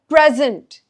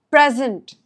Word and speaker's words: present: Noun stress is on the first part. Verb stress is on the second part. So, present present present present.